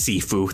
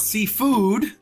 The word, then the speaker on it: Sifu: It is pronounced Sifu. Sifu. Okay. Thank you. Tensei. My mistake. It is pronounced Sifu. Thank you, Peaches. Not seafood, not sushi bros.